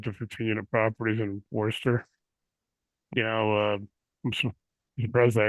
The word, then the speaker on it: Worcester: available for five to 15 unit properties in Forester? You know, I'm surprised I actually spelled that right. I pronounced that right. Uh yeah, it is a tricky one. Worcester.